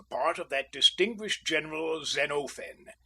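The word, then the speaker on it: Xenophon: Usually I took the part of that distinguished general Zenofen. And please note the quantity of the O. I have all my classical names like that.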